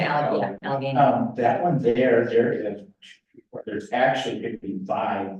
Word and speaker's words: Allegheny: We say Allegheny.